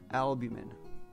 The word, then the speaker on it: albumin: So the main type of protein found in egg whites is albumin, spelled with an M-I-N at the end. And you may also hear that pronounced albumin.